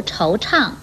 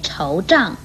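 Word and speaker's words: 惆怅: 最后要提出来的是，唱与昌都不可以念成胀或长的音，如惆怅不可以念惆胀或惆长，为虎作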